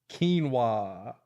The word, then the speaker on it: quinoa: you know keep keep eating that quinoa buddy quinoa is it am I saying it right yes